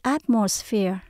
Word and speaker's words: atmosphere: khó đọc chút xíu Mình tách ra từng âm nhé âm đầu tiên là at đây là trọng âm luôn chúng ta lên cao at âm số hai không